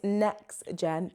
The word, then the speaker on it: NexGen: No, it's NextGen, not Next, cuz everyone always puts a T and there's no T.